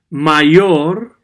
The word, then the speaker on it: mayor: my your main oh okay let's repeat this my your main or I realized that my or is